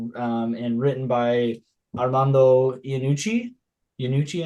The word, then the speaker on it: Iannucci: Iannucci, I think is how it's pronounced.